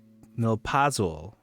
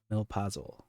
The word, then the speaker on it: Milpazul: Let me make sure I'm pronouncing this correctly. Milpazul. Emphasis on the second syllable. Milpazul.